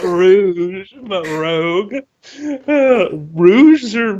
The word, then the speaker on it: Rouge: Crocodile her name's not Rogue shut up well what is it then it's Rouge whatever Rouge the Bat like the color why is it spelled